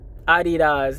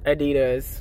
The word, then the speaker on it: Adidas: Oh, it's pronounced Adidas, not Adidas. Like, learn German.